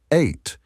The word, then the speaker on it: eite: In modern Estonian the word eite pronounced eight carries a negative connotation meaning not only woman but also old woman or even hag.